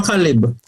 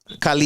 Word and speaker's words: Khaled: DJ Khaled lucky, but DJ Khaled or Khalib? DJ Khaled. Khalid. Oh, Khalid. Yeah. Oh, so I pronounce. All right. I always have a wrong pronunciation.